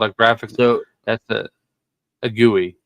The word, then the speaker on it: GUI: button that's called a graphic that's a a gooey it's it's the official pronunciation we'll explain in further detail to normies